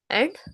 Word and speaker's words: et: Et is pronounced as A.